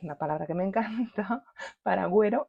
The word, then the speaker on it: paragüero: palabra que me encanta paragüero y no para guero h Bueno espero que